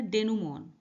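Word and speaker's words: denouement: डेनमो मीस समापन कंक्लूजन इसका प्रोनंसिएशन होता है डेन मोन देखिए प्रशन आगे लिखा है डेन मोन ऑलराइट तो इसको इसी तरह से आपको प्रोनाउंस करना है इसका मीनिंग होता है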